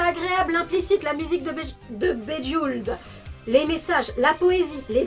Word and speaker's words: Bejeweled: Mais moi je disais c'est faux parce que ça se prononce pas Bejeveled. Bref, l'écologie, la lune, l'amitié, la sagesse, la subtilité, les dessins agréables, l'implicites, la musique de Bejeweled, les messages, la poésie,